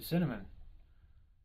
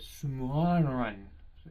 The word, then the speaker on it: Cimarron: Actually, it's not even cinnamon. It's Cimmarn. I am so sorry, I pronounced that wrong. I don't know how to pronounce it. It's Cimarron. You guys probably pronounce it better with your Google Translate, but it's Cimmarron. It's not cinnamon. It's Cimarron. That's funny.